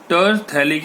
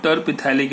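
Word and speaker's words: terephthalic: अब देखो फर्स्ट और फोर्थ पोजीशन में COOH ग्रुप है तो the name is टरथैलिक acid, not टरपिथैलिक acid. या pH इज अ साइलेंट. ठीक, तो टरथैलिक एसिड.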